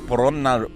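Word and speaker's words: Polonnaruwa: The place we're going to is called Polonnarua. The ancient city of Polonnarua. The ancient city of Polonnarua is a UNESCO World Heritage Site and the second most ancient of Sri Lanka's kingdoms. Polonnarua was first established by the Chola dynasty as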